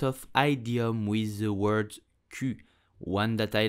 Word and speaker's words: cul: So you will say cul, Un Q. Do not pronounce the L at the end. It's totally silent. So do not say cul, but just Q.